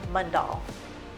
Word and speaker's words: Mundall: And how do you pronounce your last name? Mundall.